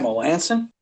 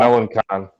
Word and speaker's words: Melancon: They got Melanson? Yep. No, they got Melancon. Melancon. Melancon. Yeah. That's a yikes. Well, you missed it. But I just completely butchered his last name.